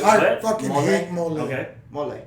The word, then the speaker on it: mole: Mole. I said it right? Yeah, mole.